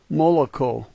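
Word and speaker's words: молоко: The third letter is an L sound. Notice that thing that looks like a tongue. That letter is L. There's an O, a K, and an O, which are all familiar to us, so let's call this moloko.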